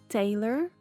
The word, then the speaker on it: Taylor: Taylor. Cuidado para não falar lore.